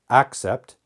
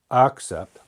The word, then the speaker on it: accept: sound here is a the first vowel sound here is e now some native speakers may not pronounce them differently but you should accept except accept accept except okay so that's pronunciation A little bit different let's make a couple